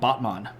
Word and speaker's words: Batman: over right about here there's a city called botman and it's spelled Batman um pretty neat if